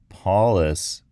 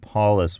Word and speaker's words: Paulas: Maybe if I try saying something like, it's not Paulus with a U-S, but Paulus with an A-S, something will stick. Let's give that a shot. So, not Paulus U-S, Paulus A-S.